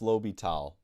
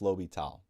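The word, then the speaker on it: l'Hôpital: rule um yeah so it is pronounced lobital so it looks like hospital um and but it is pronounced lobital um so just a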